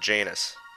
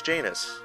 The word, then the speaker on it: Janus: or Janice or Janos I'm not sure of the actual pronunciation but I've always said Janus Connor rhymes with anus which is surprisingly appropriate